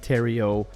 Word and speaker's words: Thériault: other than Mr Terio pronounced like Ontario but spelled a lot differently uh is an